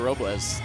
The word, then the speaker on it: Robles: Fighting out of San Juan, Puerto Rico, La Chica de Hola, Hola, Nahir Robles. See, I was going to tell you guys, you got to roll your R, but Shane did it for you, so And we're her good.